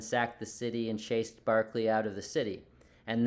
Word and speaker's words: Berkeley: It's Berkeley, like Berkeley Allison's name, or Berkeley, California, but it's pronounced Barclay.